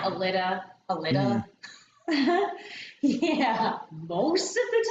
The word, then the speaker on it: Aleeda: I've heard like Aleida. Yeah. I mean, our mom's name, it's spelled Elida, and people Mhm. pronounce it wrong all the Yeah, like time. Aleeda.